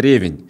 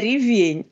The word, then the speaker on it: ревень: меня всегда с детства А кстати ударение Ревень Ревень Да а вот поскольку мы не произносим я вот сейчас произнёс с неправильным ударением поскольку для нас рабарбар